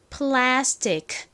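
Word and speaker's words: plastic: 이가 키소리 크 소리가납니다 그래서 천천히 또박또박 발음을 해보면 플라스틱 플라스틱 이렇게 약하게 크 소리가나요 하지만 빠르게 발음을 하면요 플라스틱 플라스틱 이렇게 침처럼 들립니다 만약에 키소리 그대로 표기를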